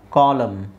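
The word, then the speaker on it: column: atom atom ಇದು ಹಿಮ್ ಹಿಮ್ ಇದು ಕಾ ಲಂ ಕಾಲಂ ಕಾಲಂ ಇದು ಸೋಲಂ ಸೋಲಮ್ ಇದು ಡ್ಯಾಮ್ ಡ್ಯಾಮ್ ಕಂಡೆಮ್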